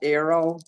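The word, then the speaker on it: Aero: the arrow candy bar it's pronounced Arrow oh yeah I've had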